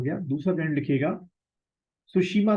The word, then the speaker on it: Tsushima: दूसरा करंट लिखिएगा सुशीमा current, spelling T से शुरू होगी, TSUSHIMA, सुशीमा करंट, ठीक है।